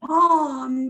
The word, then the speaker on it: lame: It's called a lame, but it's spelled lame, L-A-M-E, but it's pronounced bomb because it's French fancy.